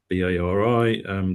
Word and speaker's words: BARI: we've been doing so Project BARI (pronounced Barry) that's working together with some partners to basically look after birds in Sandbanks essentially from Studland to Sandbanks.